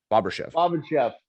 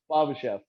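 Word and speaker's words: Bobryshev: let my friend Yevgeny Bobrachev, I think is how you say it. Bobachev. No, it's Bobrachev. Bobrachev. Bobachev.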